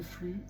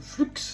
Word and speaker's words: flux: On va venir mettre le flux ou le flux comme on peut dire qu'on peut entendre aussi. Il y en a qui prononcent le X.